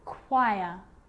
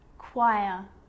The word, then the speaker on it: choir: occasions it's not pronounced the H is silent so it's choir choir echo echo with a